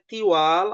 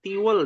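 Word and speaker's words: طِوال: Tiwal adalah jamak dari apa? Tawil ya. Bukan tiwel ya.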